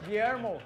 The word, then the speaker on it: Guillermo: Guillermo. Guillermo? Guillermo. Yeah, Guillermo?